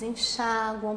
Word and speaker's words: enxagua: Se você pronunciar assim, com a sílaba tônica recaindo no U, aí ele não é acentuado.